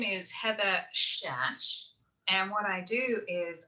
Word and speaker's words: Szasz: My name is Heather Szasz, and what I do is I'm a professional dog trainer with a twist.